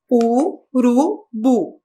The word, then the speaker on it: urubu: Urubu. Sílaba tônica, bu.